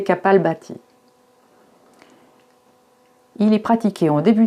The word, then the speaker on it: Kapalbhati: Dans un premier temps, donc, un échauffement respiratoire, souvent appelé Kapalabhati, mais il vaut mieux prononcer Kapalbhati.